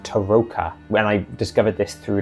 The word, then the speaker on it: tarokka: and an overview of Curse of Strad's famous Teroka reading or recently I found out it should actually be pronounced Taroka and I discovered this through listening to the Istrad audio book.